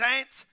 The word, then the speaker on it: ant: And he said they was watching these ants. Ants, like your mama's sister. It's spelled A-N-T, pronounced ant, like your mama's sister.